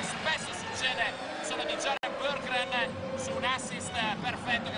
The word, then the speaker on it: Berggren: 17, Limur 2, David Moss 34, Marcus Landry, Marmaglia, Jared Burgren, così ci ha detto ospite a Basketai un paio di settimane fa, si pronuncia il suo nome.